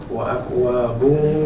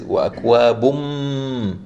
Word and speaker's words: وَأَكْوَابٌ: But the way we pronounce this is وَأَكْوَابٌ. You have to close your lips.